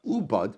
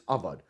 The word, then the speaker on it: ubad: Hashta dichsiv avad Vikarinan ubad, but I will say now the word in the Torah is written as if it's avad, but it is pronounced as ubad.